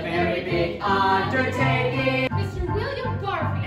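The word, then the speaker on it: Barfée: William Barfay. It's pronounced Barfay.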